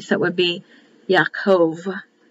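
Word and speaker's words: יעקב: so it would be yakov it would be pronounced with a v not a b and that means the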